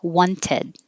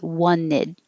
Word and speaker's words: wanted: This you can say it perfectly, wanted, but you can also get rid of the T and say wanted.